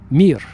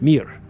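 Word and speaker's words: мир: In Russian, it's the the word mir. M I just three letters mir just like the space station. Remember the Soviet space station called mir.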